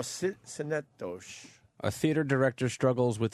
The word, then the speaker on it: Synecdoche: Schenectady. Yeah, that's how I would pronounce it. Something like that. Schenectady. No, Synecdoche.